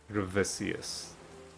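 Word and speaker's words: Gravicius: The only honorable thing you've ever done, Gravisius. Gravisius.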